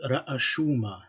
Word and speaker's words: ra'ashuma: different aleph sign, and we can conclude that this is pronounced ra'ashuma, heads. Okay, ra'shu and ra'ashuma.